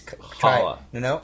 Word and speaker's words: challah: Yeah, and then in the second season it was called the Challah, which I always pronounce because Challah.